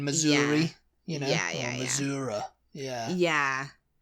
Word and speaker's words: Missouri: the list but you Missoura you know saying Missoura that's like an old country way of saying Missouri you know Missour yeah